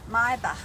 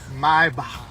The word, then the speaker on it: Maybach: It's okay because you know what the ach is the German. Yeah, it's German, right? How you say it? Maybach. Maybach.